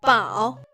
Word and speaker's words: 饱: And this one pronounced as 包. And it's 饱.